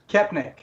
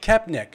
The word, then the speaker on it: Koepenick: Koepenick. Koepenick.